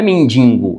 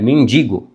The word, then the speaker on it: mendigo: Coloquei aqui, por exemplo, mendigo, não é mendigo, é mendigo.